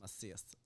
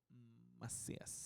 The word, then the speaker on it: Macias: so lisus l l must us must masas masas say it like that masas that's right BR those girls out bro okay